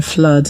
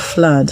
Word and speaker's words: flood: The vowel sound that looks like an inverted V. So this word is pronounced flood.